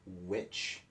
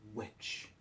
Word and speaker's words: which: these two W words which and white is that the H is silent on both of those we're not really hearing that each on those words so which white so we're hearing